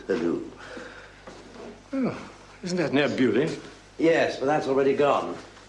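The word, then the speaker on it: Beaulieu: Oh, isn't that near Bewley? Yes, but that's already gone. Montague bagged it first, back in Norman times. Spelled the same, pronounced different, practically next door.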